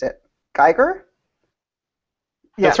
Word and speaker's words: Geiger: I didn't ask you how to pronounce it. Geiger? Yeah. That's right, Geiger, okay.